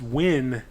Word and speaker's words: Nguyen: Well, yeah, if it's like Dustin Nguyen is Nguyen, but the N and the G, it's pronounced Win, Nguyen.